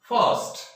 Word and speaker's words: first: देखिए, पहली बात, यदि आर के ठीक बाद कोई कॉन्सोनेंट आता है तो जो आर है वो एक तरह से छुप जाता है, साइलेंट हो जाता है, उसकी आवाज है वो हल्के ए में चेंज हो जाती है।